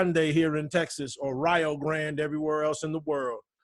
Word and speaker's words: Rio Grande: and that's why it's in Ohio they call it the Rio Grande right but but here's the thing they call it they call it Rio Grande so like to to rhyme with Ohio right called it Rio